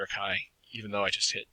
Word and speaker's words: chi: an important distinction is this is the greek letter chi it is not pronounced chai it is sometimes spelled c-h-i but if you talk